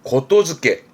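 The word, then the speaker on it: 言付け: 이때 발음은 고토즈케.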